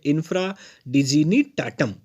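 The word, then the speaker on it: infra dignitatem: थोड़ा प्रोनाउंसिएशन ध्यान देंगे, ये है इंफ्रा डिजीनी टाटम।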